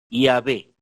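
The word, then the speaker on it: Yahweh: de pronunciar su nombre pronunciación que usan ellos es y ave y a b o sea como si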